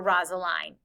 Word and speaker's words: Rosaline: Before he ever met Juliet, he was madly, supposedly in love with Rosalind, or Rosaline is how it's said sometimes too.